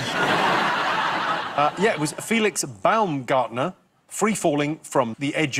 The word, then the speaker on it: Baumgartner: bloke's name was Felix Baumgartner. Wow. I'm afraid you've got the the name a little bit wrong. I believe the pronunciation Alan and Joe? Baumgartner.